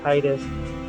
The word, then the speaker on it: Tidus: of you that follow the Kingdom Hearts pronunciation of what the character's name is supposed to be which is the Titus um you saw anyway